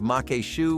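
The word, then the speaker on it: maque choux: protein side of things ever thought there would be a sausage dish you would have trouble pronouncing me neither until I first heard of Mak Shu with sausage despite the obvious French sound this is actually a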